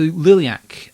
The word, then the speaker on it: Liliac: the UK education system a funky looking word that's pronounced exactly as it's written and I still can't pronounce it um but still yes so liliac uh the band from